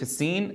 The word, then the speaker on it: السين: بس، لاحظوا وتنبهوا إلى صوت الصفير في السين، نضغط على يعني الصوت حتى يحصل هذا الانحصار للصوت لتحقيق صفة الصفير في السين.